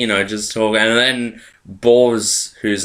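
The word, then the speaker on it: Bors: I'm going to say Boss, because that's how they pronounce it, but it's spelt B-O-R-S.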